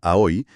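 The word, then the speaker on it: 青: El kanji para azul, a o que se pronuncia a hoy, también puede significar inmaduro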